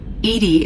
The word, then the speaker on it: EDI: are you named Edie Edie is the phonetic pronunciation of EDI that is an acronym for enhanced defense intelligence how are you getting along with Joker mr.